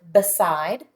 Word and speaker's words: beside: It also has a silent E after it, which tells us that the I that comes before it is going to be long. So this syllable is side, beside.